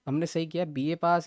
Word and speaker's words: Bihe Pass: बीए पास है वो, बीए बाय नहीं है, बीए पास है।